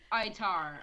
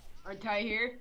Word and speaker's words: Artair: Stop shooting the zombies in the nuts, Atar. Artair. Like Altair, but pronounced like an Asian? Yeah. No, Artair, because my name is Arthur. Arthur? Yeah, I modified it to my name, because I'm such a nerd.